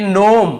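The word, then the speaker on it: gnome: यहाँ पर देखिए नोम, यहाँ पे जी लिखा हुआ है सामने, लेकिन हमें केवल इसे नोम पढ़ना है, जी को नहीं पढ़ना है।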